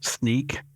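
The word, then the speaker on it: Snyk: 90% of their value sneak uh uh is is the way that's pronounced but it's you might be more used to seeing it spelled Sy ynk uh lost I think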